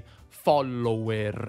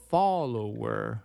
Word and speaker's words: follower: Sì, noi italiani diciamo magari /ˈfɔllower/, ma questo perché vediamo due <L> scritte e le pronunciamo come faremmo in italiano, come una doppia. In inglese, però, la /l/ è una sola, /ˈfɒləʊəʳ/.